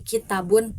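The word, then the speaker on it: كتابٌ: Nah, contoh untuk fathah pendek di sini seperti dalam lafadz kitabun. Nah, di sini huruf ta-nya itu memiliki vokal atau harakatnya itu fathah pendek, tidak ada pemanjangan dalam pengucapannya. Jadi kitabun.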